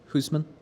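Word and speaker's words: Housman: Hoosman. Yep, usually pronounced Houseman, but obviously you're correct.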